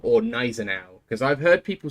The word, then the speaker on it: Gneisenau: I always thought German being relatively similar to English, you would pronounce the G, but like softly. So it would just be Gneisenau.